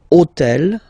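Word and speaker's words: hôtel: So I took on purpose this hotel. Okay? Because it starts with ash. But remember that in French we don't pronounce ash. Okay? So basically the first sound of the word is the vowel o.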